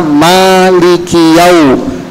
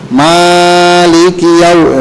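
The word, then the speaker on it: مالكِ: Jadi cukup 2 harokat saja. Jadi bacanya Maliki yau, itu dia 2 harokat. Jangan sampai lebih. Maliki yau itu lebih.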